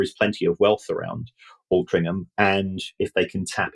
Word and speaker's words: Altrincham: Is it Altrincham? Altrincham. Yeah. I grew up thinking it had a G in it.